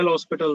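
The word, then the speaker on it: L'Hôpital: Next heading है लॉपिटल rule. लॉपिटल rule भी बोलते हैं इसको, प्रोनाउंस वैसे भी करते हैं, है ना, लॉपिटल, L ऑपिटल, H साइलेंट होता है, ऐसे ऐसे भी बोलते हैं, L लॉपिटल रूल।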